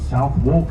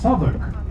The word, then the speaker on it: Southwark: Berkeley Square is Berkeley Square, Leicester Square is Leicester Square, St Olav Street is Tooley Street, the district of South Walk is pronounced Southwark, and the list goes on.